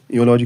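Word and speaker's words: eulogy: योलॉजी जो है यलॉजी का प्रोनाउंसिएशन है योलॉजी। योलॉजी। इसका प्रोनाउंसिएशन है योलॉजी। तो ये वाई से वाई जो है साउंड वाई साउंड से शुरू होता है। और वाई कंसोनेंट साउंड है। ठीक है? और इसलिए ए यूज़ करना चाहिए। लेकिन स्पेलिंग ई से स्टार्ट है। तो रूल स्पेलिंग नहीं प्रोनाउंसिएशन देखती है।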